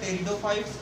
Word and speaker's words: Pteridophyta: ठीक है, इसका जो प्रोनाउंसिएशन होता है वो होता है टेरिडोफाइट्स। प्रोनाउंसिएशन इसका क्या होता है, टेरिडोफाइट। यहाँ पे भी पी साइलेंट होता है, जैसे स्यूडोपोडिया में हम